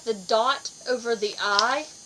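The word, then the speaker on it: い: mixed up is because i is pronounced like a long e sound and the character that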